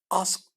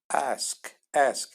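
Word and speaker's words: ask: sonra fiiller başlıyor bu eski arkadaşlar sormak demektir eski sormak okunuşu ise şöyle bakın astık değil Eski değil aşk ve arası karışım bir siz bakın buradaki kelimeden alıyorsunuz Aşk diyoruz sormak bütün soruları sordum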